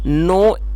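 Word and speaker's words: gnaw: से बैठ सके एंड नो एट इट और दोस्तों ये जो वर्ड है जी एन ए डब्लू इसके अंदर जी साइलेंट है तो उसको नो पढ़ेंगे जिसका मतलब होता है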